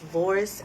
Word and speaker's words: Voorhis: We are located at 415 West Voris Avenue, and it's spelled VOORHIS Avenue.